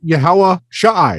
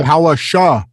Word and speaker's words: Yahawahashai: It's just Yahawahashai. It's just there's an Yahawahashai. Okay, yeah. Yahawahashai. There's a sha, right? The ah. We weren't pronouncing the second.